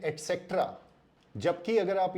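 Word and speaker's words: et cetera: इसका सही प्रोनाउंसिएशन है एटसेट्रा। एटसेट्रा का मतलब होता है एंड मोर। ये लैटिन शब्द का बना हुआ है एटसेट्रा। Eight means and, सेट्रा means more. तो आगे से इसका सही उच्चारण करें, ये एटसेट्रा नहीं है, ये एटसेट्रा है।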